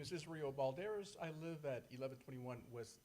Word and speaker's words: Balderas: Israel, it looks like Builders, I'm probably not pronouncing it. Balderas, okay, sorry. Ooh, I skipped over Richard. Good evening, County Commissioners. My name is Israel Balderas.